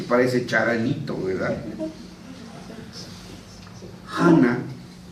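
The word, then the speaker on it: חנה: Hana, como se pronuncia en hebreo, significa gracia.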